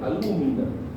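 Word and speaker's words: alúmina: otro nombre recibe alumina alumina así con acento en la u pues no el tercero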